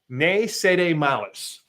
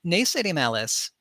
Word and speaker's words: Ne Cede Malis: So tell us about, and I'm going to try not to butcher it, Ne Cede Malis.